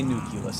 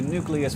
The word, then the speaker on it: nucleus: to switch over to nucleus which is after all how it's spelled and that is all